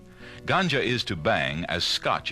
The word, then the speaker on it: ganja: A second type of marijuana is known as ganja, and it's spelled G-A-N-J-A.